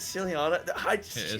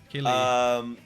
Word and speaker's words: Ciliana: Is it Ciliana? You never know. It's still, yeah. It is Ciliana. Okay. They're making fun of me, but imagine if I pronounce it the opposite way. Killy. Killy. Killy. Only Killy. No silly, only Killy.